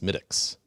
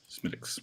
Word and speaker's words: Smithwick's: know how to pronounce properly it is actually pronounced smitics smiticks yup minix okay it's about a h center